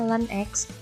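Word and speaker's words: ln x: diintegralkan adalah Len X lnx bacanya Len X kemudian + C 4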